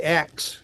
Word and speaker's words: ask: Would say axe. Oh yeah. Yeah, of course. Turns out so did Geoffrey Chaucer. Really? Really? Oh my Yes, gosh. It's a medieval pronunciation.